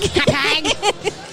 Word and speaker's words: Hauppauge: That's how you say it, Hauppauge, right? Hauppauge. Yeah.